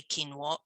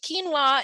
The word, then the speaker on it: quinoa: They're not actually grains, but if you've ever heard of quinoa before, some people say quinoa, it depends how you say it, but quinoa is actually a seed and also a good source of protein.